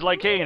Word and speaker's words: Lycane: His name is Lycane, it rhymes with pain!